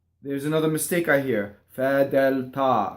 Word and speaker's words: fedeltà: Fedeltà. So the accent is on the ta.